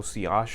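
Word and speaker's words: sillage: word it's si OSH technically it's a French word so see ash is a proper pronunciation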